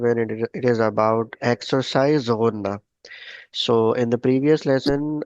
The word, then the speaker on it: Ghunna: Ghunna, we are doing when we pronounce the word Ghunna. So what? Means the answer is in the word of Ghunna. You like close your nose at the end, or like put the voice inside your nose.